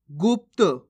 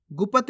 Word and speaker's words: गुप्त: होता चला जाएगा पढ़ना गुप्त कैसे पढ़ेंगे गुप्त गुपत नहीं गुप्त अब इस शब्द को